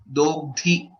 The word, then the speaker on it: दोग्धि: Dogdhi, dha is Mahaprana again.